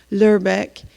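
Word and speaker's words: Lübeck: to say it correctly the Lu with the two dots you read like l-u-r in English lerbeck and lerbeck Germany was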